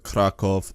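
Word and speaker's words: Kraków: Warsaw for that matter or crock off or vada Sheva that's how it's actually pronounced in Polish but anyways please don't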